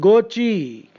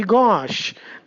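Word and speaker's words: gauche: h e uh you are probably tempted to pronounce it GOI now GOI we know is a lion cloth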